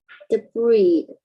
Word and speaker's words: debris: Debris. Yeah, the S is silent. You don't hear it. Debris and objects in its path.